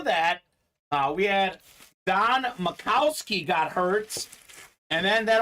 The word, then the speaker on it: Majkowski: them the magic man I know it looks like majkowski but it's Makowski the proper pronunciation uh JSA certified Maxi